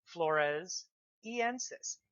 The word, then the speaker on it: floresiensis: how to pronounce it she was found on the island of Flores that's where we get the first part flores en says e ANSYS just means